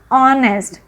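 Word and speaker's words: honest: और एक बात है, ऑनेस्ट की स्पेलिंग एच से स्टार्ट होती है, बट आपको क्या प्रोनाउंसिएशन करना है इसका, ऑनेस्ट, क्योंकि इसमें जो एच है ना वो साइलेंट है।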